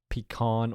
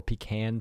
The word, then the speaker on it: pecan: I could see pecan or pecan pie, depending on your Sure. pronunciation. Those are the same thing with different pronunciations, and I could see either of those being considered Thanksgiving pies.